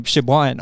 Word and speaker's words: Siobhan: The lovely Siobhan is joining us. How are you? Hello, good. Nice to be here. Have I pronounced that right, Siobhan?